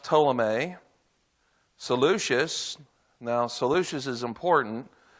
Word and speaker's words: Ptolemy: That's pronounced Ptolemy.